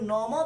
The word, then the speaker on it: নমঃ: অন্তঃ সোমায় নমঃ, দন্তের নম বিসর্গ, নম বিসর্গ উচ্চারণ হচ্ছে হ হয়, তাই নমঃ।